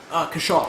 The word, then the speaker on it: Kaushal: Kaushal, how do you say Kaushal? Kashal. Kaushal? Yeah.